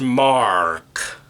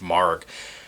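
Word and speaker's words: Maargh: name it's like mrs mark as an m-a-a-a-r-g-h as in like you're yelling argh as in you got hurt mrs mark or or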